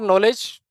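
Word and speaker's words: knowledge: के ए ई यह कोड था हमारा के फॉर नॉलेज के के फॉर नॉलेज के फॉर कोलकाता के के नॉलेज नॉलेज जो वर्ड होता है ना वह के से शुरू होता है। के साइलेंट रहता है।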